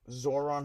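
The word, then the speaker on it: Zohran: So it's Zoran. How do you spell that?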